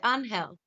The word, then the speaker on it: Angel: But he, because it's a Spanish name, he's Mexican, he pronounces it Angel. Yeah. But I want to say Angel.